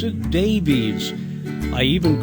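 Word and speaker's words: Daveiss: his name was d-a-v-e-i-s-s that would suggest he pronounced it davies so why do counties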